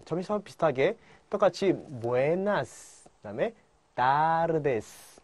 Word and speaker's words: tardes: Buenas tardes. Buenas tardes. Buenas tardes. 그렇죠? Buenas tardes. Tardes. 그렇죠? 예, T, tardes 아니고요. 그다음에 tu, ta, te. 예, 일간처럼요. 따 발음입니다.